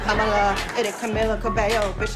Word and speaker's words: Kamala: It's pronounced Kamala. It rhymes with Kamala.